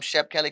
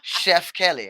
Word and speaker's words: Shep Kelly: Now, I know we in New Orleans, so I'm going to spell that out because a lot of people call me Chef Kelly, and I don't cook. It's ShepKelly. Follow me on everything.